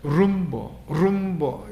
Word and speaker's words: rumbo: 룸보. 이 스페인의 R 발음은 떨어야 된다. 룸보예요.